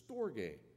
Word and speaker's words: storge: storge it's kind of a weird word to pronounce but it's storge which i think this morning may be the